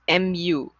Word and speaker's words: mu: by this greek symbol called mu so it's pronounced as m u mu that's population mean okay um so let's